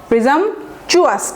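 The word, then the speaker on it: presumptuous: পরের স্ট্রিংয়ে চলে যায়, 10 নম্বর স্ট্রিং, গট ক্যারিড অ্যাওয়ে, প্রিজাম্পশাস, আমরা আগে শিখেছি প্রিজাম্পচুয়াস, টিইউ কে টিইউ বলবেন না, বলবেন চুয়াস।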